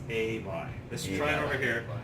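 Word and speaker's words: Ay b'y: It's not a boy, it's not I boy, it's not I buy. It's a buy.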